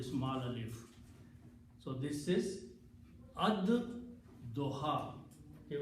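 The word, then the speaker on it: الضحى: So this is ad doha. Okay, when you pronounce these together, then lam is not pronounced, but dod is pronounced twice. So it becomes ad doha.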